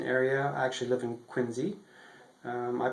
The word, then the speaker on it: Quincy: in the Boston area I actually live in quiny um I pronounce it Quincy um in this section of quiny is is